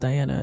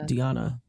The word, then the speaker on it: Diana: Diana Schneider who just found out it's not pronounced Diana it's pronounced Diana that was shocking but but talson also made